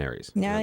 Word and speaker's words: Aries: Now I'm an Aries. I don't even know what to do anymore. Aries rhymes with fairies.